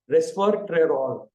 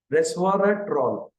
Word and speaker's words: Resveratrol: which is called as Reser trol R retroll sorry I told it in the the pronunciation was wrong Resveratrol Resveratrol is very very